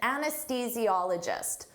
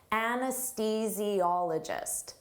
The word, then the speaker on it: anesthesiologist: An anesthesiologist. Don't let this spelling confuse you. Native speakers have difficult with the pronunciation of this. Anesthesiologist.